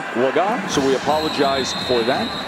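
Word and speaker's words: Cooper Legga: just got word that the preferred pronunciation of this quarterback is Cooper lagot we've been saying Lega a guy who wasn't expected to play hadn't thrown a pass in his entire career preferred pronunciation laga so we apologize for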